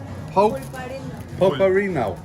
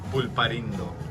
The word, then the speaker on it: Pulparindo: So, if you ever want to come down, how do you pronounce these? Polparino. Pulparindo.